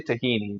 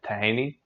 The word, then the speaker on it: tahini: It's okay, because I would say tahini, but you say like tahini? So there's no vowel between the T and the H in Arabic. It's just, it goes from tahini.